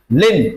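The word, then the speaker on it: limb: लिम। क्या बोलेंगे इसको? लिम। बी इसमें साइलेंट है।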